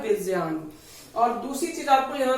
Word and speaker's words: विज्ञान: आपने सुना होगा कि लोग उसको विज्ञान कहते हैं, जबकि यहाँ पे विज्ञान नहीं होता है, उसको यहाँ पे राइट जो उसका प्रोनाउंसिएशन रहता है होता है विज्ञान।